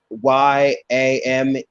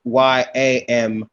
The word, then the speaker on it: Yamasee: Yamasee, that's not the right text. It's Yamissii, Yamasee. And you have to use the original text that our ancestors said.